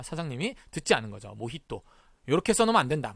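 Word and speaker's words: mojito: 쓰지 않고 이렇게 씁니다 모히또 보시다시피 제이를 써요 그런데 스페인어 단어 기 때문에 뭐지 또 가 아닌 몫이 또 라고 발음을 해 줘야 되요 그런데 우리가 모히또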